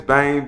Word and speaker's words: Bem: say my information so uh my name is bane b-e-m uh on all social media platforms is